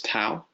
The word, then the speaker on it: tau: Next is tau or ta, depending on what your teacher told you. I've heard it pronounced both ways.